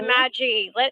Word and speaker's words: Magi: I call it the magic because I'm going like magic so I'm like Maggie you know without the season Magi right that's the correct way to pronounce it the Magi well instead of it